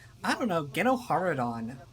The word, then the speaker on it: GenoHaradan: I don't know, GenoHaradan is not that bad. It has like a certain cadence to it. It's almost fun to say GenoHaradan. And I know that's the correct pronunciation of it, even though I don't think anybody who speaks basic says the name in this game. If they do, it's only like once. But it's the pronunciation they stick with in Tor, because they do show